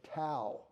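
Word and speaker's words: Tao: coins a term the to he could you say da if you want but to is how I pronounce it and he uses an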